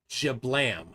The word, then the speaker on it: JBLM: anything up here man jablam it's JBLM look it up Joint Base Joint Base Lewis McCord okay pronounce it jablam it's in Washington sounded like you made it up on the Fly there okay no it's just a nickname for it's called jiblam okay all right what